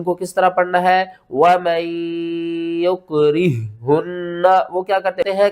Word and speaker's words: وَمَن: آپ کو سمجھاتا ہوں۔ واو زبر وا، میم نون یا زبر مین، وَمَن، اب بہت سے لوگ کرتے ہیں میم یا زبر مئی، وہ کہتے ہیں کہ جب تشدید اور